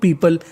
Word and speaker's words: people: पीपल, PEOPLE, इसे पढ़ते हम लोग पीपल। कई लोग इसे पीपुल पढ़ते हैं जो कि गलत होता है। इसका सही उच्चारण होता है पीपल।